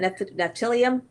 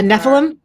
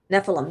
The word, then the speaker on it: Nephilim: Whenever I think of how do you say that? Neptilium? Uh, Nephilim. Nephilim. Yeah.